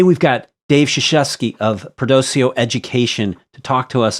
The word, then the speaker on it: Perdoceo: Okay, because Wikipedia says Perdoceo is with a hard K, but you pronounce it Perdoceo?